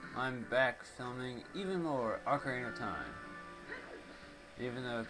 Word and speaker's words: Ocarina: back filming even more Ocarina of Time even though people are stupid and think it's Oak Arena but you know what